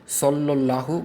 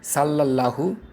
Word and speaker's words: সল্লাল্লাহু: একটি হচ্ছে নবীজির নামের পরে বলা সল্লাল্লাহু বলতে গিয়ে। এখানে আমরা প্রায় সবাই সাল্লাল্লাহু বলে ফেলি। এই বানানে সদ হরফ ও তার সাথে জবর ব্যবহার করা হয়েছে, তাই উচ্চারণটা হবে সল্লাল্লাহু। আমরা আরেকটি ভুল করি রসুল উচ্চারণে।